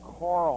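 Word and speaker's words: Carle: see for lacey is nancy carl i believe is how she pronounces her name c-a-r-l-e all right we're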